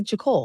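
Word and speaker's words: Jacole: it jcole or jcole I want to say jacle jle maybe I'm wrong like Nicole but right back but write it up phonetically for us j a c o l e she's on Instagram and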